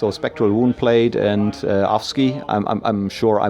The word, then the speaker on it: Afsky: very special geeks or spectral wound played and offski I'm sure I mispronounced it yeah that's correct in Indonesia we